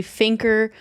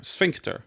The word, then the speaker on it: sphincter: In the review, did she say finker for sphincter? Sphincter. Sphincter. Is there a T?